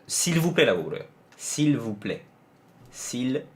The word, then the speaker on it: s'il vous plaît: 근데 그거는 사실 s'il vous plaît는 애 빼고 거의 다 한국에서 있는 발음일걸요? C 할 때 그냥 C. 거기서는 리을만 붙이면 돼. s'il vous, v가 없구나. v가 문제구나. v가 v 여기에 나와야 돼요. 앞에서 나와야 돼요. 그러니까 푸는 아니고, 푸는 배치잖아요 소리가.